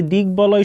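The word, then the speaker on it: দিগ্বলয়: এই যে দিক বলয় শব্দের মধ্যে দেখো গয়ের সাথে ব ফলা যুক্ত আছে, তাহলে আমাদের এই যে গয়ের উচ্চারণ হবে এবং বয়ের উচ্চারণ হবে।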